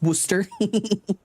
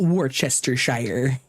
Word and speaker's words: Worcester: That's why it's pronounced Worcester, not Warchester.